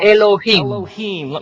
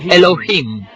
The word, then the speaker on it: Elohim: en inglés serían más o menos así se pronuncia Elohim repitan Elohim en un principio Elohim creó los cielos y